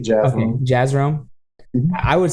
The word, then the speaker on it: Jazrome: Jazz like the music, Rome like the city. Jazrome.